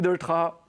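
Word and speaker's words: Delétraz: Vous savez que la plupart du temps, on prononce son nom de famille avec le Z à la fin, mais concrètement, il ne faut pas. Donc, bonjour Louis Doltra.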